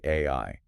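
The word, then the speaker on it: 愛: Right, because in Japanese, the phonetic sound for love is literally AI. It is. The kanji character for love is pronounced AI.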